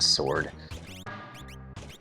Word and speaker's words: sword: I like how you actually pronounce the W in sword.